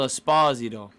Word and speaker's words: Esposito: Oh, Phil Esposito. That's how you actually pronounce his name.